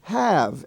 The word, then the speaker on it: have: i have no idea it's spelled h-a-v-e and spel and pronounced have now incidentally in the word behave it's regular but by itself h-a-v-e is pronounced have also in the bear